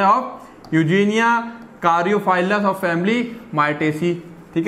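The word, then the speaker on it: Eugenia caryophyllus: Birds है ना, flower birds होते हैं ऑफ यूजीनिया कारियोफाइलस ऑफ फैमिली माइटेसी, ठीक है ना, ये थोड़ा सा नाम प्रोनाउंस करेंगे, यूजेनिया कारियोफाइलस, यूजेनिया कारियोफाइलस, ठीक है ना।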